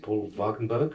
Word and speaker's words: Paul Wagenberg: Excuse my pronunciation. Is it Paul Wagenberg? Yes, yeah. And So the organ player.